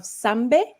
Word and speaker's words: Sambe: of the executive committee committee of association of sambe gint did i pronounce that correctly that was perfect yes this